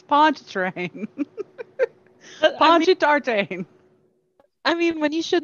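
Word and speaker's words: Pontchartrain: that anchor said and he pronounces it ponchi tartane oh goodness it's ponchatrain come on guys it's ponch train i mean when you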